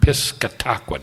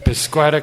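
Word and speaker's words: Piscataqua: piscatqua river you got to learn how to pronounce all this stuff pis kataka no no no the pcaa ri pcaa River into back into New Hampshire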